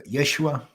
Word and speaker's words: Yeshua: name of Jesus Jesus in Hebrew is a Yeshua or yes Yeshua and it means god rescues or salvation and